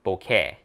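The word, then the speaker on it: bokeh: I'm saying it wrong Boke right not boka it's Boke it's Japanese Japanese word Boke Boke yeah Boke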